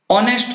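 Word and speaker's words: honest: sound दे रहे हैं ऑनेस्ट होता है नेस्ट नहीं होता ऑनेस्ट में भी सेम यही बात कि एन ऑनेस्ट मैन और ईयर यरेस नरेल और यर लो तो ये साइलेंट रहता है इनमें एच तो इन वर्ड्स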